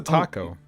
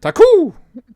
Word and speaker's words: Taku: to know what's a taco oh sorry taku wait what you're talking about taku yeah i'm not from oh come on son say it right taku taku thank you anyway um